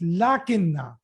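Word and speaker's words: لٰكِنَّ: in the heading here a small alif will be there so that people will read it correctly they should not read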